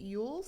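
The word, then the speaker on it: Elwes: the princess okay and carrie yules i think is how you pronounce this last name british guy okay he's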